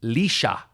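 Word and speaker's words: Laois: It's pronounced Leysa. Born in of course it is. Wrath Downey County, Leysa, Ireland.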